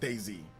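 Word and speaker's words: DayZ: Yeah, it's I think it's pronounced Daisy. Just like Daisy.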